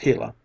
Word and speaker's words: Gila: when the hot sun shone down on the Gila monster pronounced Gila it was no longer tame and gentle but